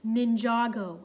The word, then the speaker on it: Ninjago: It's Ninjago. It's really not that hard to pronounce, Zane said.